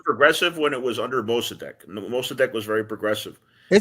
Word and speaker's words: Mossadegh: Isn't it pronounced Musada? No, I always say Mossadegh, and I've heard it referred to his name as Mossadegh as well.